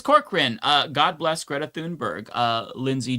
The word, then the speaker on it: Thunberg: We didn't talk about the gods of flotilla, but like shout out to um Greta Thunberg or Tunber. I think her name is Tunberg. I want to say that's how you pronounce it.